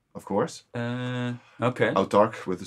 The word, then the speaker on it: Autarkh: How do you pronounce it in English? Autarkh? I would say Autarkh, yeah. Okay. A-U-T-A-R-K-H. Yeah, yeah.